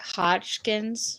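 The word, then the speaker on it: Hodgkin's: Hotchkins yeah how how do you say it Hotchkins yeah just like that okay um that's what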